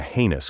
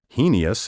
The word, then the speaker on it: heinous: spelled h-e-i-n-o-u-s means reprehensible wicked evil as a heinous crime a heinous lie i have heard scores of educated people mispronounce this word as heinous heinous and heinous the best i can say about